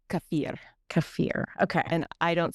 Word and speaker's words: kefir: Supposed to be pronounced kafir.